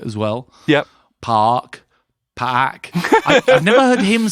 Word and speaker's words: Anderson Paak: It's P-A full stop A-K. Do you think it might be 2 syllables? Paak. For us, from now on, it's Anderson Paak.